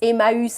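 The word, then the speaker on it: Emmaüs: BPI in the 50s it was called a mouse it's pronounced a mouse I'm sure you've seen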